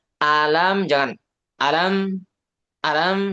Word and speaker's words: ألم: Nah, baca A-nya itu nggak nyampe satu harokat, Bapak. Hati-hati. Pokoknya huruf yang pendek itu dibaca satu harokat. Jangan kurang dari itu. Jangan kurang dari satu harokat.